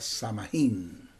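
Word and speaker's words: Samhain: Ellos celebraban un ritual llamado Sam Aim. También se puede pronunci, se puede pronunciar samajín.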